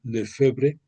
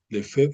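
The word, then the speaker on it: Lefebvre: Hubo un sacerdote de nombre Marcel Lefebre, Lefev se pronuncia, creo, que yendo en contra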